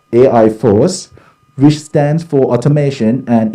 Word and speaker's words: AI4CE: multidisciplinary research group named ai4ce or pronounced as ai force which stands for automation